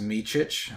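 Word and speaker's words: Micić: And, uh, it his his last name is pronounced Michich.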